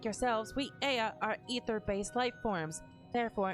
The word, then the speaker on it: Ea: When the vibration of vocal cords was still required to convey our thoughts and intention, Aya, I believe, was the pronunciation used when referring to our people.